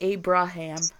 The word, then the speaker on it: Abraham: In English, pronounced Abraham.